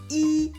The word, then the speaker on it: y: the word e is a pronoun it's always pronounced e that's the easy part it is used to